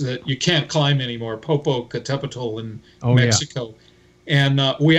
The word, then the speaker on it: Popocatepetl: I climbed an active volcano back in the late 80s that you can't climb anymore, Popocatepetl in Mexico. Yeah. And we actually made summit. Isn't that Popocatepetl?